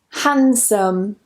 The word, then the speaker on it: handsome: The next rule is whenever we have an N and a D together, we normally just remove the D.